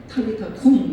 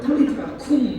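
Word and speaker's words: 달리다굼: 달리다 꿈 달리다 우리 개혁 성경은 어 약간 어 거센 발음을 잘 안 쓰잖아요. 사탄도 사단이라고 표현하는 거죠. 거생방 달리다이 원어로 그대로 하면 탈리타쿵 이렇게 하는 거예. 그를 꼭 그리면 돼요. 털리타쿵 하면 이게 오늘 좀 가까운 발음이 되지 않을까 생각되는데 습니다.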